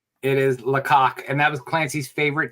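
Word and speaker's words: Lacock: you say that do you say Clancy it's Lok it is laok and that was Clancy's favorite town in all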